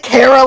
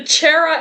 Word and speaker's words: Chara: they're giving me the Cara lecture now I pronounce their name wrong oh my God cuz it's character oh my God I